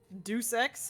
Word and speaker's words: Deus Ex: the Marvel game Studio it's pronounced do six Deus Ex okay yeah time to